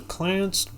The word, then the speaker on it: Clanced: The Clanced, pronounced Clanced Trust, is a highly unusual corporate arrangement named after Clancy Edward Rootree.